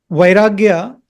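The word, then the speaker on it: वैराग्य: But what differs from Vairagya in Sviya is, the differences between Vairagya and Sviya, after Va, in Vairagya, the next swara or the vowel is I. Vai. That is why it is Vairagya.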